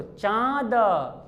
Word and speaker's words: चांद: अब ये भी बोलकर देखो, चांद, और चांद, जब नौ वाला प्रोनाउंसिएशन आ रहा है, अनुस्वार वाला, तो भर जा रहा है ना, और इसमें कम भर रहा है, चांद, ऐसे बोलते हैं।